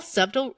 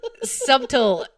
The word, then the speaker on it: subtle: that a a small subtle subtle as you say subtle or subtle there you do not pronounce the T and it wait what no you don't pronounce the b yeah subtle ring subtle it looks